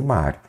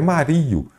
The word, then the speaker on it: Mário: Quando aparecerem essas paroxítonas, você vai se lembrar do mestre Mário. É mestre Mário, não é Mario.